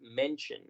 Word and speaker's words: mention: Recordemos que la pronunciación, el verbo en presente, mencionar, es mention. Mention. Esta es una de las palabras en las que la T toma el sonido de ch y la terminación I-O toma el sonido de shua.